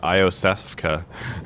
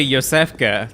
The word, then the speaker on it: Iosefka: and Beast Bloods that's another one of my like least favorite youtuber pronunciations is IO Seska I remember yeah it's it's clearly Yosef qey that's what I oh